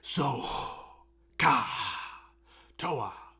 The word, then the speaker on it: SOH CAH TOA: ones which I'm now I I like to pronounce the H because the this H here is represents the hypotenuse so I say so gah Toa right so you need to like mean to